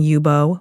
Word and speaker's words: Youbou: we would highly recommend searching yubo which is spelled y u b oou and cin Lake on